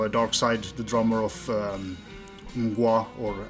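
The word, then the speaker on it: Mgła: Side, the drummer of Mgwa or MGLA. It's pronounced Mgwa. So he's just a fantastic drummer, and he kind of I love his playing, and it's just an excellent drummer.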